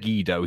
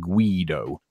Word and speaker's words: Guido: wrong because I said gido he said guy though but it's actually it's a an Italian name and they pronounce it Guido yeah anyway back to